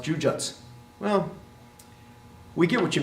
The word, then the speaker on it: jujutsu: You don't pronounce the ending jutsu. That U at the end, jujutsu, does go away, but it probably should sound something more like this, jujutsu, right, or jujutsu.